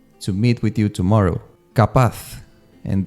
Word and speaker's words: capaz: Capaz, and this one is tricky to pronounce. Capaz, with the Z at the end.